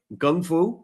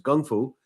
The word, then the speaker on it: Gung Fu: arts awesome systems like Gung Fu right it's a proper pronunciation know everyone says Kung but it's Gung Fu and taii Harsha has